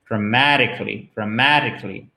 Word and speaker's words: dramatically: Et vous voyez que sous le T, là, vous avez un espèce d'arc de cercle qui indique, et ça, c'est typique et vraiment typique de l'American English, que le T est presque prononcé comme un de.